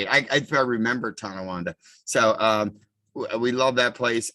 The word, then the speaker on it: Tonawanda: Tawawanda? How do you say that town? Tonawanda. Tonawanda.